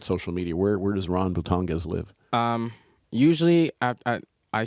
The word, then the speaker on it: Bultongez: It's actually Bultongez en français, but adjusted it so people are gonna, and people still mess The it up. English pronunciation. Yeah. It's Bultongez.